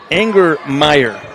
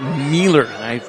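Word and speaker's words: Angermeier: that one anger meyer that's an anger meyer i was saying it miller it looks like an l but it said i i apologize charlotte for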